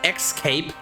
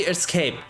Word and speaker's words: escape: to point out that anyone that pronounces the words as x cape is just weird and there is no way you're changing my mind on that it's clearly escape i don't know why